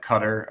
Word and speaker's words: Qatar: small little country of Qatar it's spelled guitar some people do pronounce it cutter I've heard it both ways so I allow either one its capital city is